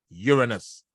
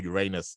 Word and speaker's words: Uranus: square between Venus and the planet Uranus or Uranus uh depending on your pronunciation uh no don't get